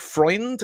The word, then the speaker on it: Freund: a guy called Andreas, I think Freund is the pronunciation. Yep. It's either friend with a U or Freud with an N, depending how you are.